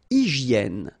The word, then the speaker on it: hygiène: Une hygiène. So remember, we've got this Y here, vowel, and it's pronounced like E, okay? Hygiène. H doesn't exist, H doesn't exist in French, so hygiène.